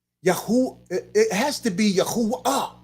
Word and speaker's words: Yahuwah: the dalit right so if yahudah is correct then it must be yahuwah right think about what i'm saying here it must be yahoo right can it be yahoo it has to be yahuwah ah right i'm talking